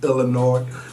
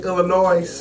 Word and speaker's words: Illinois: You know we Gary folks don't pronounce Illinois without the S.